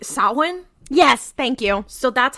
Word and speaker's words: Samhain: This is actually pronounced like Samhain.